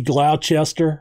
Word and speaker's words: Gloucester: rawlings also from gloucester and that's how we pronounce the gloucester in massachusetts i don't live there but it's gloucester masters might be glauchester or glochester uh if it is i'm sorry